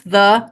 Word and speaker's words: the: company to work for pronounce thee like the before a vowel sound sound and it'll be